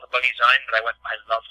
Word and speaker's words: Bunnyzine: magazine I did initially intend to call it Bunny zene and it wasn't until you called it bunny zign but I went I love that I love